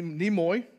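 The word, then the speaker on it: Nimoy: another moment to live I always say his last name wrong Leonard neoy NE nemoy uh he was Spock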